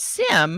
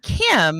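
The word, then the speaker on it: CIEM: right in fact I thought the sea was a soft C so I kept saying it as Sim and then I kept hearing Kim and I got so confused and so I remember when I realized that I was just saying it wrong and that we were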